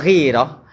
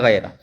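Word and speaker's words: غيرة: nabi adbu inna minal Ini girah bacanya ya. Kalau girih, girah itu himmah. Himmah itu gai gaierah. Gaah itu artinya keinginan. Gih. Kalau ghairah cemburu itu bacaannya girah. Inna minal ghairati.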